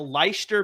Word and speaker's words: Leicester: So he played for the Leicester Panthers, and he actually did pretty well.